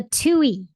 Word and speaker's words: Tui: It is called the Tuie, and it's spelled Tuie, native to New Zealand.